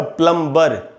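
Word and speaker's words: plumber: अच्छा, एम के बाद जब भी बी हो तो वो बी साइलेंट होता है, इस बात का आपको ध्यान रखना चाहिए। जैसे हम बोलते हैं ना प्लम्बर, जो नल का काम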